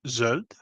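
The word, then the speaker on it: zöld: from our Iranian speakers green which in Hungarian is pronounced Zod and gold which is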